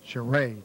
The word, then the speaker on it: Charest: Charest. That's how we pronounce his name, Donnie.